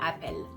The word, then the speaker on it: appel: Appel is ending with L. Okay? So here, the E that is in appel is going to be open to welcome the consonant sound.